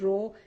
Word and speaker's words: rho: greek letter and the name of that we pronounce it as rho it is called resistivity the name of it